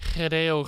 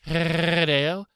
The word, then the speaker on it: Hideo: Hideo Kojima. I don't think you pronounced the H. Hideo Kojima.